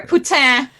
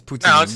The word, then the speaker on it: poutine: Putin. No, no, it's poutine. It's poutine. Yeah, because otherwise you just said a very nasty word in French.